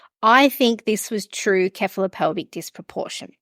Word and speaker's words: cephalopelvic: true keop pelvic disproportion do you say it like keop pelvic that's so funny it doesn't it you know who it doesn't matter it's you know some people say seph some people say ke ke is like know calic like